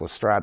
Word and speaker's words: Lestrade: Although it's pronounced Lestrade in the films, it's actually pronounced Lestrade.